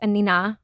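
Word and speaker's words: Anine: I thought it was Annie Bing. So everybody does. Oh, okay. Yes. Okay. I believe she's Swedish. Okay. I only recently learned that it's Anina.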